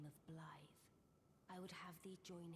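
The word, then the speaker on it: Blaidd: doing just the same so I guess it's Blythe it's pronounced so I a long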